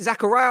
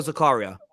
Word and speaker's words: Zakaria: the then it's uh is it zachariah or zakaria uh i think it's either way some people pronounce it i've heard it both ways so i don't i